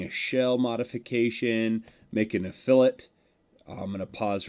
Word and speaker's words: fillet: store it's called the fillet but in architecture and in machining and 3d design that's called a fillet just so i you